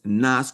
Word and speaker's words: NAICS: The name of this article is called best NAS codes for funding low-risk NAS that banks like. Okay. And NAS is called is spelled N A I Cs.